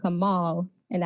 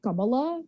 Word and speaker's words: Kamala: differently, but I say Kamala, but I don't think that's wrong either. And he was like, yeah, see, you're not wrong, but like that's like the Sanskrit Hindi way of saying it.